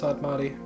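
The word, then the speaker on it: Sadmadhi: And I know it's pronounced Sadmati, which I think is what I was saying.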